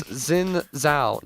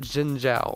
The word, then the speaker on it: Xin Zhao: Yeah, it's Xin Zhao, not Jin Zhao, or I'll figure it out at some point.